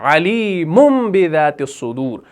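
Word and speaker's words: عَلِيمٌ بِذَاتِ الصُّدُورِ: तो इस अलीमुन को हम पढ़ेंगे ऐसे अलीमु यानी मीम मीम पेश मुम करके पढ़ेंगे। अलीमुदत सुदूर और सूर फातिर के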